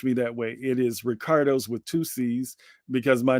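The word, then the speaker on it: Riccardo: r do o uh and that's Rick not rice not Rico not Ricky okay uh but you can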